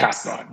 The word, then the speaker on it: Castellan: And this week, we're joined by Michael Boardman, who is the Director of Revenue Operations at Castellan. Have I pronounced that correctly? Castellan, yep, Castellan.